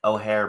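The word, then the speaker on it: Eochaid: And O'Hare, by the way, is spelled Eochai.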